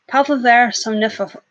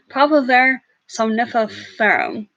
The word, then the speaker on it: Papaver somniferum: And so yeah, the opium poppy is Papaver somnifera. One of those times that I know how to say it, but like the brain and the vocal doesn't quite compute with that. Okay, here we go. Papaver somniferum. There we go.